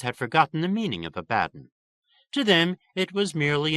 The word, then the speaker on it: Abaddon: an adequate suburb a word Outsiders were Forever mispronouncing by accenting the first syllable rhymes with Aladdin the natives routinely informed visitors emphasize the bad they added a strangely